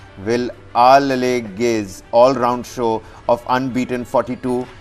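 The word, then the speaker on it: Wellalage: And why I'm saying, because, you know, the English pronunciation would have been will all age, which is a proverb, but Vilalage's.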